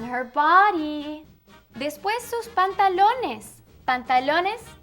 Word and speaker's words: pantalones: Pantalones sounds like the word in English, but longer. Pantalones.